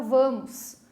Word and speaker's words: vamos: Essa não é oxítona, certo? Por quê? Aonde eu puxei na sílaba? Aonde a prof disse mais comprida a sílaba? Na primeira sílaba, no van.